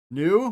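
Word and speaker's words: ν: New which is not a v sound. It is an in sound.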